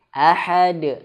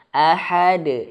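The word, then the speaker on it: أحد: Ahad. Langsung saja. Ahad. Jangan. Ahad. Ahad. Yang pertama jangan tahan. Ahad. Yang kedua jangan dihamzahkan di akhirnya. Qul huwallahu ahad. Ahad. Nah, jadi kayak ada hamzah tertahan di akhirnya.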